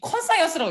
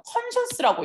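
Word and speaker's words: conscious: 이거 컨사이언스라고 읽는 거 아니고 컨셔스라고 읽으시면 돼요.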